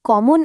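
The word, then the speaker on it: coup: মনে রাখবেন এর উচ্চারণটা কিন্তু কু। এটা ভুল করা যাবে না।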